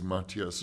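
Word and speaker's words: Matthias: film definitely um Maas am I corre correctly pronouncing his he doesn't mind how you say but it's Mattias Mattias yeah yeah who's somebody that I think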